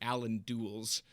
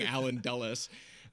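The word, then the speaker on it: Allen Dulles: CIA because in my first video I was pronouncing it Allan DS instead of saying alen dullas just a second I think you have a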